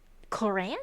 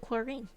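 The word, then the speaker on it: Clorinde: Coran, that's how you pronounce it. I would call it chlorine or call her chlorine.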